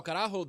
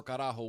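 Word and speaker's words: carajo: How do you spell it? C A R A J O. So Karaho, the original meaning for Karajo was on a old Spanish gallion boat, right?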